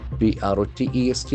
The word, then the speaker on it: protest: Here it will act as a verb, so the accent falls on the second syllable. Protest. Protest. If it is a noun, the accent for the first syllable.